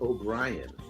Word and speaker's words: Haut-Brion: There's another first growth, Chateau Haut-Brion, and that's actually Chateau O'Brien. But Because it's Irish. Yeah, they made it French into Haut-Brion.